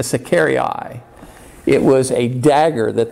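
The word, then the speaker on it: sicarii: uh is called and in latin i think it the pronunciation is a secari eye it was a dagger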